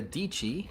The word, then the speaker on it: Dici: Inspired by my friend, my good homie, Sarah Dici, rhymes with Peachy.